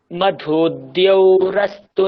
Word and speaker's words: মধুদ্যৌরস্তু: এখানে কি আছে দেখুন দয় জফলা, তাই জন্য আমরা আগে দয়ের উচ্চারণ করব। মধুদ দ্যৌ একসঙ্গে, মধুদ দ্যৌ রস্তু নঃ পিতা।